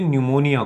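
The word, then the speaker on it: pneumonia: हालांकि इसका जो अंग्रेजी में लिखते हैं निमोनिया को, तो थोड़ा सा जो स्पेलिंग है वो पी से स्टार्ट होता है, ऐसे स्टार्ट होता है न्यूमोनिया। तो पी साइलेंट रहता है, लेकिन जो न्यूमोनिया है तो निमो से न्यूमोनिया हो गया।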